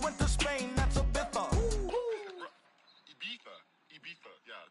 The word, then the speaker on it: Ibiza: I just went to Spain, that's a Ibiza. Ibiza. Yeah, it's pronounced Ibiza, actually. What's the difference, man?